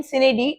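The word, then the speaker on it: sine die: next one आप सिनेडी, question number 13, सिनेडी, डाई, वो Latin word की प्रोनाउंसिएशन में सिनेडी, इसका मतलब होता है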